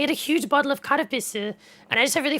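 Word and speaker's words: カルピス: So if you can get karapisu, it's spelled like this. In English, I guess you say like kalpis. People think it sounds like cow piss, but it's not. Karapisu.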